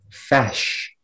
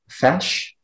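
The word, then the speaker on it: feis: all right speller 82 your word is fash can you repeat the word can i have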